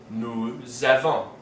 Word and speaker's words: nous avons: have this situation where, because the verb starts with a vowel, the S of the word before it is pronounced as part of that word with the vowel. So we have nous avons, vous avez, and ils ont.